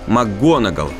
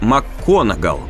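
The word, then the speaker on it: Макгонагалл: также верно указали на неправильное произношение фамилии макгонал прозвучавшая как макконгал профессора макконагау сразиться с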